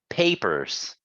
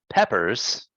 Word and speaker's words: papers: uh one more time papers papers good because we don't want to say peppers right Peppers is a different word here it's a papers papers good there you